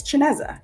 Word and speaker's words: Chineze: But it's Chineze, not pronounced anything like that.